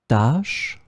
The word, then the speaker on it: tâche: In this lesson, we will see together two words that are written differently but pronounced the same way. Tâche, tâche.